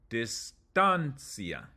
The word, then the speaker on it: distancia: So the third to last would be tan, distancia.